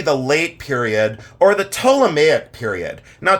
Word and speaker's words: Ptolemaic: late period or the toic period now toic is spelled with a p so it you don't pronounce the P but it's toic but spelled p t